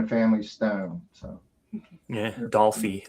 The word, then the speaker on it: Dolphy: So Yeah, Dolphy is the way that one's pronounced.